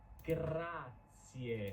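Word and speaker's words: grazie: It's gracier. I want to hear that final e grac.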